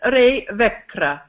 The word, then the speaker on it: Ree Wekre: how are you Freud yes okay rainy did ray vikre what thank you that's good everybody at home